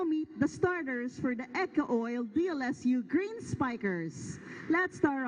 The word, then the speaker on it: Eco-Oil: This is the match between the CEU Scorpions and the Eco Oil. That's how you pronounce it, Eco Oil.